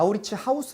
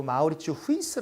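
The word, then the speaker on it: Mauritshuis: 우리 바로 물으면 아마 우리 치 하우스 라고 합니다 그 네덜란드 발음으로는 그 마우 리츠 후 이스 라고 하는데요 소통 장마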